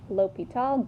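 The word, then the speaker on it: L'Hôpital: okay Guillaume Lupita right it looks like hospital but there's no s and that except at the end pronounced l'hopital genome where's he from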